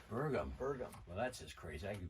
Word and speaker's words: Bergum: boudreau with us today jim i could never pronounce i your last name last name burgum burgum burgum well that's just crazy that's just kind